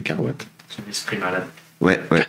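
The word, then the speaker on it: Caroit: Pourquoi tu prononces mal le nom des gens tout le temp ? Carate. Oui, parce qu'il y avait un côté coïte, je pense. Et voilà. Mais c'est Carwat.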